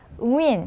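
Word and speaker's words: Nguyễn: 우리 베트남에서 가장 많은 성씨가 응우엔 씨거든요.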